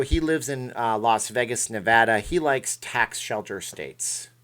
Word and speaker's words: Nevada: tax shelter state and yes it's Nevada it's not Nevada it's not what he does okay Nevada it's we have a license plate on how to pronounce the name here the correct way for gosh sakes everybody